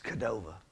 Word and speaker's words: Cordova: And it's Cordova, if you know the locals there, is how they say it.